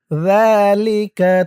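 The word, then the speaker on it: ذَٰلِكَ: হুসবানা ওয়াল কমার হুসবানা ওয়াজাআলাল লাইলা সাকানাও ওয়াশ-শামসা ওয়াল কমারা হুসবানা যালিকা তাকদীরুল, যা, যা এক আলিফ টান, খারা জবর। যালিকা, যালিকা, যালিকা, যা জালের উচ্চারণটা কিন্তু একদম নরম হবে।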